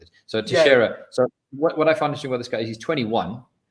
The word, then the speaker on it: Teixeira: Teixeira. Jack Teixeira. We'll just have to look at Spanish Portuguese name. That's better than anything else I can come up with. It. So Teixeira.